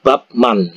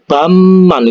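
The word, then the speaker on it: 밥만: Man bacanya kan babman Tapi kalau di Korea ini nanti kalau kalian di Korea bacanya bukan babman ya bacanya itu bamman ini babman Ini dibaca Bam Man Bam Man seperti ini Jadi babman ini dibaca baman kok bisa kayak gitu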